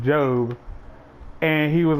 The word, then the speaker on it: Job: wrong like I think he just read a pronounced ajob but I was like yeah it's pronounced job and he was like yeah well I'm not